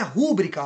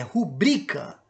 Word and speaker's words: rubrica: palavra oxítona rubrica opa não é rúbrica a pronúncia da palavra é rubrica que é aquela aquele visto né rubrica Então ela é paroxítona as pessoas pronunciam muito essa palavra de forma errada né então assinale a